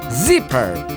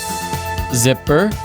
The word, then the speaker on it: zipper: 붙어 있는 거 있죠 지퍼라 하잖아요 영어로 zer zipper 그렇게 얘기합니다 같이 한번 해보실까요 zipper zipper 퍼 퍼 퍼 우리들은 코를 걸고 잘